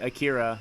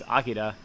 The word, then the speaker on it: Akira: example is like the famous comic book like Akira is what everybody calls it but like it's Akida it's like that's how that's that's the correct